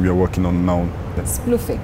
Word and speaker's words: Splufic: Splufic, right? Am I pronouncing it correctly? Yeah, Splufic.